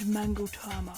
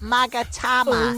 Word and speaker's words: magatama: the room oh sacred mangot um actually it's pronounced magatama oh sacred megat no no that's not it either it's magama repeat after me Maga well